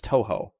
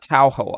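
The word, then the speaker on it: Touhou: say this was too I think you guys said it was Toho not towo I used to try to make it sound like towo you told me it's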